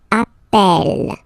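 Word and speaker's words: appelle: the pronunciation of H you tend to pronounce it like e e really open that's the reason why you pronounce it Appel Appel okay Appel Appel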